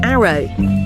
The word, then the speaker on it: ARO: Aimee Osbourne reinvented herself as ARO, pronounced Arrow.